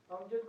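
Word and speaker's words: أمجد: अमजद को भी अमगद बोलते हैं जी, मैं वही बता रहा हूँ आपको।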